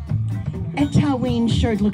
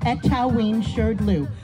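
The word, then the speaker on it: Etaoin Shrdlu: The first part is three syllables. Etawin. Here we go. One, two, three. Etawin. The second part is two syllables.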